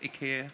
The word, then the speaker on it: IKEA: think everybody knows who Akia is. Oh, I say IKEA by the way, not IKEA. Some people pronounce it differently. I think it's Ika. IKEA in Swedish.